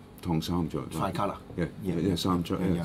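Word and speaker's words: 唐三彩: In Cantonese, we say this is Tong Sam Choi. Tong Sam Choi.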